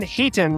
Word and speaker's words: Hayton: Our guest tonight is one of the most influential figures in the Australian combat robotics scene, Ben Hayton, right?